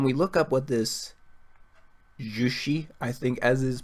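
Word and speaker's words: Juche: So when we look up what this jushi, I think as is pronounced, we look into it and we see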